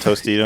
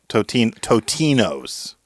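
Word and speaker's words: Totino's: No, not Tostitos. Kind of. Totinos. Totinos? Tost- You going to say it right? Yeah, Totinos pizza rolls.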